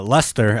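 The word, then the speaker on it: Leicester: um the team uh Lester actually is how they pronounce it in England oh yeah yeah um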